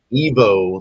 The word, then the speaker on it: Iwo: Evo. See, his name is IWO, but his name is pronounced Evo.